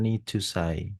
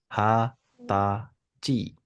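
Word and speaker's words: 二十歳: itu angka 20 kalau angka 20 dalam bahasa Jepang itu dia Niu penyebutannya bukan nijusai tetapi ha ta Ci ha melenceng jauh kan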